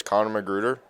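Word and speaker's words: Conor McGruder: name and how do you spell it? My name is Connor McGruder, spelled c o n o r m c g r u d e r.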